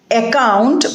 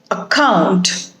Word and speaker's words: account: It is not account but account. And it is not drama but drama.